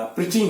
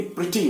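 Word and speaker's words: pretty: और जहां तक सवाल है, बात है मेरी दादी के जवान होने का, प्रिटी होने का. बच्चों देखिए, ये वर्ड जो है ये प्रिटी होता है, प्रैटी नहीं होता है.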